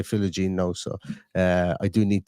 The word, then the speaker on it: Philogene: I don't even remember mentioning Jaden Philigine this on this podcast, but I know I do at times call him Philigine Bades, and he just goes by Philogene now.